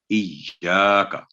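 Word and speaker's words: إياك: آگے اس کے بعد تو یہ ہے یا کا نہیں ہے، یہ اس کا صحیح تلفظ ہوگا ایاکا. جب بھی تشدید کسی بھی حرف پر ہو تو وہ 2 گنا ٹائم اس پہ ہوتا ہے.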